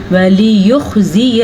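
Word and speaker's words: وَلِيُخْزِيَ: لام کو لمبا نہیں کرنا، اس کو اگر کرنا پڑے گا ولی، غلط ہے. یا تو آگے ہے لیکن یا پہ پیش ہے تو اس کو ہم پڑھیں گے ولیخزی الفاسقین.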